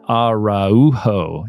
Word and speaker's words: Araujo: I have a really cool guest today Ronald araujo did I say it right yes he did